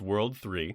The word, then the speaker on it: WWW: During the events of the first game, the evil syndicate WWW, pronounced World 3.